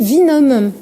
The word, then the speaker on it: Winum: Et bienvenue Philippe Vinhomme. Merci pour la prononciation également. Oui, pourtant j'aurais dû dire Winham, puisque vous êtes un vainqueur. C'est écrit dans le nom.